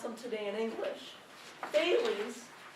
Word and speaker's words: Thales: And this is how we pronounce them today in English. Thales, Pythagoras, Heraclitus, Democritus.